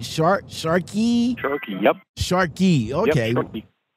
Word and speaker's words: Sharkey: How do you pronounce the company? Sharkey, right? Sharkey.